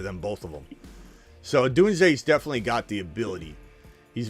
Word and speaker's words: Odunze: Yeah, is O'Dunes in or Odunze? I don't know how you say his name. Odunze.